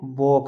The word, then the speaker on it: walk: हम नहीं करते यानी कि ये इंग्लिश का रूल है, अगर के से पहले अगर आपको एल दिखती है एल का उच्चारण नहीं होता।